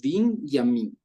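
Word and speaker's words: בנימין: mucha ciencia detrás pero Benjamín en hebreo se dice vin yamin y Serían como dos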